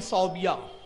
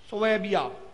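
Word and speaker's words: ثويبة: उसकी एक लौंडी थी सौबिया सोबिया सोबिया सही प्रोनाउंस है उसका ला के सोबिया भी बोलते हैं लोग सुबिया जब आती है लौंडी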